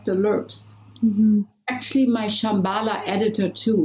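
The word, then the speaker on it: LRPPs: but i think you you say it's pronounced lerps right yeah so can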